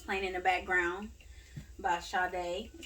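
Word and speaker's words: Sade: the song that's playing in the background by shaw day that's how you say it whatever you know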